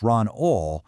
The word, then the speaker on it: Ron Ahl: And you can just feel the passion for this craft in these words from Ron Ahl, that's pronounced Ron Ohl, from back in 2017.